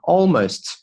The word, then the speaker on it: almost: 我们来看一下第二部分。第二部分呢，似乎没有难的单词吧？但这个单词呢，大家可能会把它读错，可能读成 hind，应该是 hind。OK，hind 后腿 hind。Almost as tall as the jeep，这里呢 almost 这个 t 呢我们可以把它弱化 almost as tall as 这个